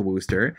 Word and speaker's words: Worcester: worcester I'd be forever grateful I went to Wooster when we did our ultimate three times who